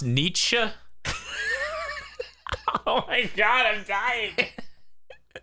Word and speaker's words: Nietzsche: Feel it's pronounced Nietzsche. Oh my god, I'm dying. Right, Nietzsche.